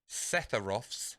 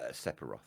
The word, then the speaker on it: Sephiroth: Now, I may get this geezer's name wrong. Right. What is Setharoth's sword called? Masamune. Okay, did I say his name right, though? Sephiroth.